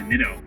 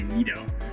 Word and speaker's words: Nitto: the the reno race the nitto see look i said i can say it right in front of the camera i usually say neato so yeah the neato